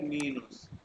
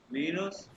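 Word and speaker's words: minus: हैं इक्वल को और माइनस को कहते हैं मीनोस मीनोस ठीक है मीन और मल्टीप्लाई को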